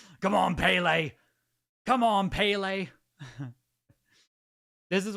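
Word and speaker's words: Pelé: If if Ple heard you pronouncing his name Ple. Isn't that how you say it? It's not Peely.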